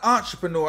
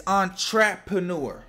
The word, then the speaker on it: Entrapreneur: It's Entrapreneur. Like trap? I think that's what he's supposed to say. Like Entrapreneur, like he's trapping.